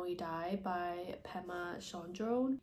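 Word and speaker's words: Pema Chödrön: how we die by pemma Shone I believe is how you pronounce her name but she is a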